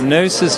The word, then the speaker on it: Gnosis: GNOSIS Chocolate. GNOSIS Chocolate.